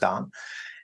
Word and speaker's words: Dan: My name is Hebrew, which is why it's spelled Dan, pronounced Don.